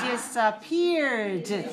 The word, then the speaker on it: disappeared: The verb is disappear. How many syllables do you hear in this word? Disappear, 3 syllables. And the past tense disappeared, also 3 syllables. We add the d, but we don't add another syllable. Disappeared. 3 syllables, stress the 3rd syllable.